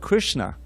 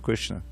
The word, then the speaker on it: Krishna: a powerful word it's made of two syllables i i memorized this first recently which i won't try to chant the sanskrit right now but krish and na krish it means to